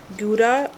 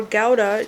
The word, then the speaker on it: gouda: of Turkey mortadella and smoked gouda or Gowda cheese slices by the way you can pronounce it either way is delicious either